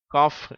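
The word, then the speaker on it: cough: இஃப் என்ற உச்சரிப்பை தருகிறது அதுபோல அடுத்த வார்த்தையிலும் சிஓ யூ ஜி ஹெச் காஃப் என்ற அந்த இஃப் என்ற உச்சரிப்பை பெறுகிறது அடுத்த வார்த்தை ரஃப்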